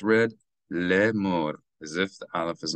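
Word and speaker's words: לֵאמֹר: So it's read le'emor, as if the Aleph is not there.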